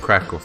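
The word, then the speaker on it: Kraków: Actually, I had a colleague who worked in Krakow. I said Krakow, but you guys probably know it as Krakow, right? Because of the German pronunciation.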